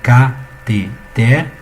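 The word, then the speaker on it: cateter: Vocês concordam comigo que catéter, ela é assim, né? Catéter, ou seja, uma trissílaba.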